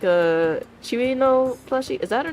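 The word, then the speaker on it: Cirno: it coo or Chino I think it's Chino because in a Chino's math class she pronounces herself as Chino she's like Chino math class Mario or something like that she pronounced herself as like Chino the ice fairy I want the toou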